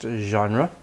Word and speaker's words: genre: English it is pronounced genre stress on the first part is onra second syllable